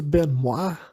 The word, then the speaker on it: Benoit: Na verdade a pronúncia seria Chris Benoit, mas eu prefiro falar Chris Benoit, né, se escreve Benoit, né, com um T mudo no final.